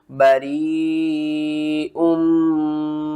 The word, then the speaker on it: بریء: انی بریء مما تعملون، ہجے کر کے سمجھاتا ہوں، با زبر با، را یا مد زیر ری، بری حمزہ میم 2 پیش میم میم زیر میم میم الف زبر ما، بریء مما تعملون۔ یہاں پر دیکھیں یہ